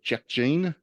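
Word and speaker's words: Jack Jeanne: is very much for me uh it's called Jack Gene which is a visual novel but it's about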